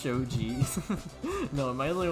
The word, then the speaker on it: shogi: So yeah, it is shogi. Yeah, I do know how to pronounce a fair amount of Japanese words.